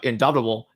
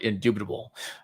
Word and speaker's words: indubitable: Seems in in it seems uh indoubtable inductible that the goddess Ana I'm sorry indubitable. I don't know why I pronounced it like that.